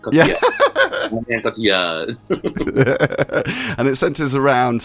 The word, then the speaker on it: Cotillard: Cotillard. I think it helps you just put on a sort of hello accent. Cotillard.